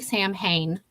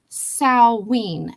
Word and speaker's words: Samhain: Sam no not Sam it looks like Sam Hayne It's s a m h a i n but it's pronounced Sween and that's where you